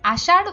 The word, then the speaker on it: আষাঢ়: একইভাবে আমরা যখন আষাঢ় উচ্চারণ করি তখনও কিন্তু সেটা অনেকটা ডয় শূন্য র এর মতোই শোনা যায়।